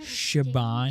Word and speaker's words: Siobhan: it the moment when sioban and I share Shaban is how you say that okay the crowd is